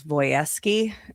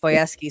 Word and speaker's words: Wojewski: One of my college roommates, her last name was Voyeski, and it was spelled Wojewski, but it was pronounced Voyeski.